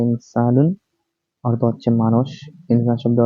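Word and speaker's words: إنسان: হচ্ছে পরের ধাপ হচ্ছে শব্দটি হচ্ছে ইনসান উচ্চারণ হচ্ছে হচ্ছে ইনসানুন অর্থ হচ্ছে মানুষ ইনসান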